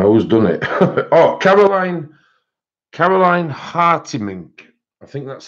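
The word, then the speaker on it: Hartemink: Oh, Caroline Hartimink, I think that's how you pronounce it. This is the image. It was done with chameleon markers. And I think it's pronounced Hartimink, which is H-A-R-T-E-M-I-N-K.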